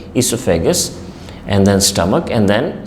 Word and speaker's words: esophagus: esophagus remember this word it's not ossifical versus esophagus o is silent esophagus and then stomach and